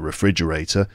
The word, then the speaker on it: refrigerator: probably fridge right frig because the frig in refrigerator is pronounced with a J sound not a g sound